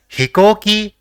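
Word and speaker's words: ひこうき: So it will be pronounced as hikoki, which means aircraft or aeroplane.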